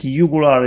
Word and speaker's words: jugular: wins we call jugular sometimes the pronunciation is jugular but i think yugular is the same as a latin and this is three